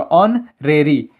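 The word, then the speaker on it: honorary: ये हॉनरेरी लिखा है तो हॉनरेरी नहीं पढ़ेंगे इसे ऑरेरी पढ़ेंगे इसमें चच साइलेंट है तो ओ से शुरू होगा ऑन रेरी तो ये किससे शुरू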